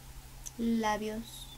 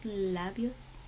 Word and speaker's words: labios: Labios. You know what labios means? Labios. When you pronounce it in Spanish, the B sounds like a V.